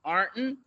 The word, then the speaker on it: Ironton: are real hillbillies and we pronounce it Arnton. There are no O's in Arnton.